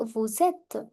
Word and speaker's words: vous êtes: Again, S will overlap the sound of E. Vous êtes.